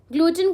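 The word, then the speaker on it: glutton: ग्लूटन को आप कैसे प्रोनाउंस करोगे? ग्लूटन। ग्लूट और टर्न ऐसे प्रोनाउंस कर लो।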